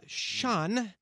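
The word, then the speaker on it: Shaan: they're if they're false don't hate me uh sean yeah am i saying your name right no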